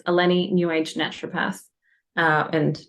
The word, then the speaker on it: Ellene: n e that's how you spell it it's pronounced alenny you can call her I'm sure she